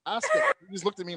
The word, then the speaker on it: Asuka: He gets it now, but the first time he was like Asuka. I said no, it's Asuka. He just looked at me like, Oh my god, I'm sorry. No, That's are you Asuka.